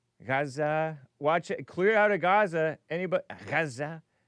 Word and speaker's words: Gaza: Clear out of Gaza. Anybody? Gaza. I like to say it correctly the way that the locals say it.